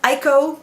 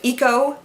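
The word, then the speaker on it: Iko: dull and monotone also she pronounced eco as ICO instead of eco and that drove me crazy the your time not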